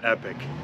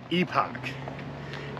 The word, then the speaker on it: Epoch: here guys the Scout Epic I kept pronouncing it epoch it is in fact epic now how do I